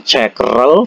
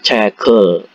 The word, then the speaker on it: 책을: Karena cek itu huruf terakhirnya adalah g itu adalah konsonan, bukan cekrel tapi cekel mokoyo.